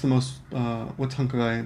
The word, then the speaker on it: 繁華街: The first vocabulary word was hankagai. Yukari? Hankagai. And that's basically downtown, bustling street. It could also be a bustling street, just downtown, a busy area, right? Mm-hmm. Okay. And in Osaka, what's hankagai there?